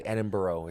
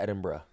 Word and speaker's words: Edinburgh: Edinburgh bro no because you don't say edinb it's Edinburgh like that's how you say it yeah yeah it's weird